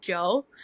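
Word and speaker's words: DJO: It's spelled DJ O, but I think it's just Joe um from Stranger Things.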